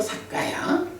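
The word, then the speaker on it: sakkāya: 사카야라는 말이, 이게 이제 사뜨, 까야, 요 두 개 말이 더해진 건데, T하고 K가 연결되다 보니까 T가 발음이 K로 달라진 거야. 그래서 사까야 이래 되고, 이때 이 사뜨가 힌두교적으로는 존재, 뭐 아뜨만의 의미를 갖겠지만, 그러나 기본적으로는 이게 약간 비동사의 개념이거든.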